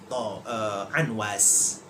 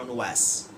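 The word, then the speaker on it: Amwas: di daerah kecil namanya Anwas. Ada mengatakan Anwas, ada yang membacanya Unwas.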